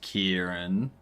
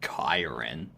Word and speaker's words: Kieran: Kieran is Kieran. But would it sound as it's spelled? Yeah. Kieran. No one's saying Kyren. That'd be weird. That'd be super duper weird. I don't know why anyone would say it that way.